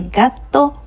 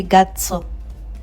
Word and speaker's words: gato: So I said el gato curioso. I did not say gato. Gato. To. Your tongue is doing more of the work.